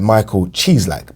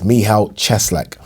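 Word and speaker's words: Michał Cieślak: to coley mihal cheslac i kept getting his name wrong because it looks like michael cheese like but i i've been told it's mihao cheslek um what did you guys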